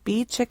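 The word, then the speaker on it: Beechick: Three R's and it's by Ruth b check B chick is spelled b-e-e-c-h-i-c-k Ruth b chick and the book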